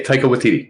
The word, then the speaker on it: Taika Waititi: How do we pronounce his name? Taika Waititi? Yeah, Taika Waititi.